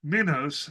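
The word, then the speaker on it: λιμός: The word for famine is minos, and the word for pestilences is moinos. And in modern Greek, they're actually both pronounced the same.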